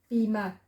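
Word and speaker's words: בימה: Then you go on to the next letter, the little T is the R, silent H at the end, bima.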